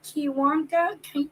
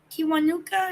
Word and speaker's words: Kiwanuka: say his name uh kiwanka kiwanuka kiwanuka is how you say i can't say it